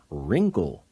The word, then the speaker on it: wrinkled: Kano's I mean knows here's another one WR when a word begins with W R the W is silent like the word wrist another WR word is wrinkled and when you write